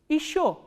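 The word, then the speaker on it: ещё: Again this ye unstressed, ye will be pronounced as e, not ye. So, how will you pronounce this word? Isho.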